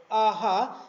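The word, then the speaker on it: ʻaʻā: That is the AA, which can be pronounced as a AHA and is in Hawaiian terms, and which has different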